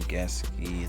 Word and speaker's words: Gesicki: Let's lock in Gesicki. That's how you pronounce it.